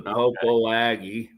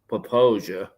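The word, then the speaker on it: Popo Agie: If it's Lander, that's the Poposia or the Popo Aggie. The correct pronunciation is Poposia. Poposia.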